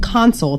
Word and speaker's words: Konsyl: It's called Consul. It's spelled Konsyl.